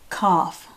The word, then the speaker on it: cough: Cough, C-O-U-G-H, cough. Now I know the word cough sounds like it has an F in it, but the G is silent.